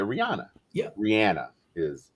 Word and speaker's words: Rihanna: Rihanna is how she prefers it to be pronounced. Is it really Rihanna? It is Rihanna.